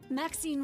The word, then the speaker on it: Maxine: Maxine rhymes with queen, after all, and does.